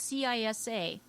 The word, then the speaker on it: CISA: infrastructure Security Agency boy that's a bunch of syllables yeah but look at the it's cisa uhhuh They just added an S to the